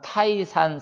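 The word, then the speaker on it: 泰山: 중국에서 가장 높은 산은 타이산 산이다.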